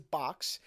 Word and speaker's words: Boox: So the company name is Boox, but apparently that's supposed to be pronounced as Boox.